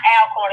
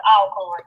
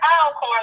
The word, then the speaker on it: Alcorn: I'm gonna tell y'all like they tell us, it's not Alcorn, it's Alcorn. They will get mad Yeah, if you man. not pronounce the name of that school right. If you don't pronounce it Alcorn like it's supposed to be, they will come